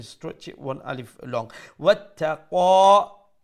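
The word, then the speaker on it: واتقى: Wattaqa, তার উপরে শাদ্দা double letter double sound এবং ক মুঠা করে উচ্চারণ করব এক আলিফ লম্বা করব যেহেতু মধ্যে আসলি তাবিঈ وصدق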